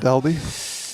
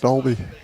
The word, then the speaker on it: Dolby: I pronounce that wrong it's Dolby isn't it it would be Dolby not Doby Dolby tomato tomato yep okay